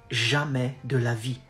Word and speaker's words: jamais de la vie: No way is jamais de la vie. Jamais de la vie. And then you go fast and you contract de and la. Jamais de la vie. Jamais de la vie.